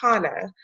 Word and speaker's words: Hannah: And I want to make a quick note before I get into it, that I don't think I clarified the pronunciation of my name. It's Hannah. So Hannah, okay.